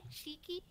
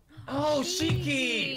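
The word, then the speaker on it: Shiki: Li remember it is like s H I K I cheeky cheeky that's right oh it's Sundering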